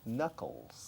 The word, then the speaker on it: knuckles: Knuckles. Knuckles. Con K delante, conucles, K muda.